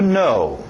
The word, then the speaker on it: know: Agora, mesmo som que vocês talvez já aprenderam a dizer sim e não em inglês, yes e no, essa mesma pronúncia do no. To know.